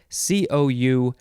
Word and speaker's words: couloir: we're on our last word uh it is kalwar cool or maybe it's cool cool c-o-u-l-o-i-r noun from 1822 it is a steep mountainside